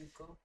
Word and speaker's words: Zuko: Yes, Zuko.